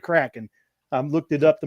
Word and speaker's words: Kraken: and then and you and it is said Kraken I looked it up to make sure I was pronouncing it right right so goad I was